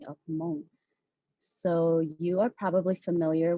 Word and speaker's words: Hmong: two main dialects um one is mong white which pronounces hmong with an aspirated h and then the mong lang or mong green dialect which pronounces hmong with no aspirated age or sorry with no aspiration um and so students